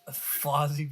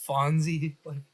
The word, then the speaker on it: Fozzie: Kermit being a goober, Gonzo being Gonzo, and Fozzie being a Joker. I don't know why, but almost every time I try to pronounce Fozzie's name, I almost mispronounce it as Fonzie, like the Fonz from Happy Days.